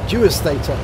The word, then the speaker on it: PabloDewastator: And the name of the player is PabloDewastator. I think I've pronounced that correctly. Dewastator, as with a D.